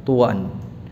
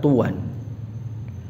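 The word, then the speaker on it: طوًى: ayat sebelumnya tua ya tuan kalau kita baca Ya ini ini e faedah ya bacaan al-qur'an yang terdapat pada ayat yang ke-16 tadi ada kata tuan ya di sini kita membacanya dengan mentanwinkan wawunya Tuan ya dengan tanwin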